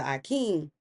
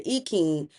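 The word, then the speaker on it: ikin: When you see people divining with the Akin, which are the palm nuts, or the Ekin, depending on who you ask, is going to tell you how they pronounce it.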